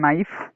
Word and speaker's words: knife: First one, knife. You have to pronounce it knife, don't pronounce it knife.